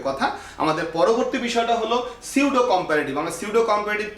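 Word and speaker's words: pseudo: সিউডো বানানটা ভালো করে দেখো, পি এস ই ইউ ডি ও, সিউডো। সো উচ্চারণ কিন্তু পি সিউডো না, উচ্চারণ হলো সিউডো।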